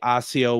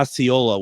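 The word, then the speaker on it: Iola: Now, did Deb not say AIO, Wisconsin on Wednesday? Yeah. And I could have swore she had pronounced wrong. Yeah. Oyola. Katherine uh Katherine uh has corrected us kindly and I appreciate that. Uh Ayola, Wisconsin.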